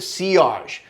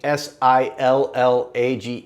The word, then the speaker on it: sillage: know what ciage is it's spelled I'll put the word on the screen s-i-l-l-a-g-e it looks like sillage to us uh English speakers ciage is the kind